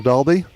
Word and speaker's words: Dalby: Florence is from Dalby. G'day, Mark Rooney. Hope you're well. I think I pronounced that wrong. It's Dalby, isn't it? It would be Dolby, Not yeah.